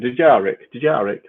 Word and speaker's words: Dejarik: And of course, how would you pronounce it? Dejarik table.